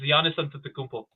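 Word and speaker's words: Giannis Antetokounmpo: Gianisto Kono. Actually, that was actually kind of good. It's Jiannis Antmpo.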